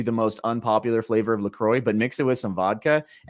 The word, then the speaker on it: LaCroix: one too you know let's uh let's talk lacroix where do you all stand on la croix